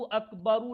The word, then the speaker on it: अकबर: अकबर, देखिए मैं देखिए इसका एग्ज़ैक्ट प्रोनाउंसिएशन कर रहा हूँ, ताकि लोगों को हम्म,